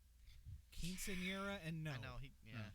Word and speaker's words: quinceañera: Was this her quinceanera? Quinceañera, and no.